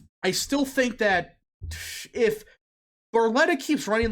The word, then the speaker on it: Barletta: Barletta?